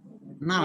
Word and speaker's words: null: Fourth, decide whether the null hypothesis is supported or refuted. Nal And ya, the nal. last, Bacanya nal bukan nul, nal.